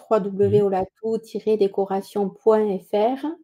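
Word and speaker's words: Olatu: Haat ça se ça s'écrit avec un u à la fin et pas un o u mais ça se prononce ou parce que ça veut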